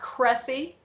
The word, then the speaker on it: Cressy: All right, Cressy, and it's pronounced Cressy, Cressy Holmes House Historic District, Middle Township, Cape May County.